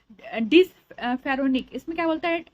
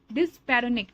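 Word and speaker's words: dyspareunia: area में पेन है ठीक है पेल्विक में डिस फेरोनिया पेन ड्यूरिंग इंटरकोस यानी सेक्सुअल इंटरकोस के दरमियान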